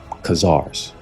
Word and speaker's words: Khazars: Let me pronounce it better. Khazars.